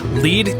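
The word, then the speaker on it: Lied: The Lead Jungle, and yes, it's pronounced that way, I promise, opened in 1992.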